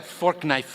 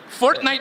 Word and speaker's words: Fortnite: That's a fork knife reference. Did you say fork knife? It's actually pronounced Fortnite. No, I don't think so.